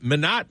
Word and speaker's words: Minot: Number 2, let's go to Minot, North Dakota, or Minot, North Dakota, whichever you'd like to pronounce it.